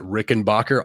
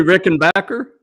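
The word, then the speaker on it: Rickenbacker: yeah so uh I'm real big on my Rick and Backer guitars I have a four string and a F string Rick and Backer um I pronounced it rickenbacher all the way up until this year whenever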